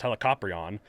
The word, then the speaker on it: Helicoprion: the shark with the spiral mouth uh it's pronounced helicoprion but uh i just looking as like throughout